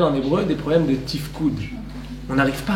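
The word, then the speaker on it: תפקוד: Ça s'appelle en hébreu des problèmes de tifkoud.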